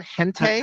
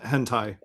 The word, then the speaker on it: hentai: Henti henti hentai.